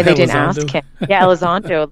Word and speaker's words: Elizondo: And why they didn't ask the former minister, I always say his name wrong, Luis Eldorado? Like, why they didn't ask him? Yeah, Elizondo.